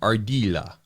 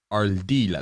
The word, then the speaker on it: Ardila: Today we have Ardila, but the correct way to say it, which for some reason is hard for my Kentucky tongue, is Ardila. Ardila. There's like that rolling R. I think you got that it. rolling R from from a Spanish.